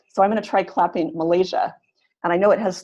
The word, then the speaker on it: Malaysia: I'm gonna try clapping Malaysia and I know it has three syllables so I'm going to clap it as Malaysia second syllable is longer and louder the unstressed syllables are